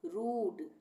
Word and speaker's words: rude: उसी तरह से RUSE, रूस, DUDE, डूड, RUDE, रूड, PLUME, plume, यहाँ पर सब में बड़े ऊ का उच्चारण हुआ है।